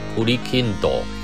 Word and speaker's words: くりきんとん: all names of food another question The Japanese pronunciation of "Gongli Gold Group" is "くりきんとん" It means "chestnut gold group" And the Japanese